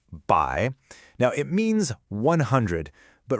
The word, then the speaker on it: 百: The first character here is by and it's pronounced by.